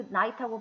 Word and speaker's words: knight: 발음은 우리가 말하는 그 알고 있는 밤 있잖아요. 그 night하고 발음이 똑같아요. 왜냐면 이 K가 묵음이거든요. 소리가 안 나요.